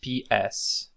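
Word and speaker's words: ψ: we have Pai is pronounced as PS like in Psychology which is a word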